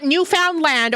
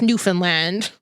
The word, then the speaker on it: Newfoundland: It's not Newfoundland, okay? How dare you? That's how we say it to spell it, but it's Newfoundland. Because you gotta say it like Newfies, where they don't say half the words or syllables or letters. That's just how the accent goes.